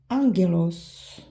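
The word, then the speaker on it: άγγελος: se prononce comme G les deux gamma double gamma ça prononce comme NG exemple Gama gaz gaz gaz de gamma Angelos GAM Melancholia Melancholia mancholie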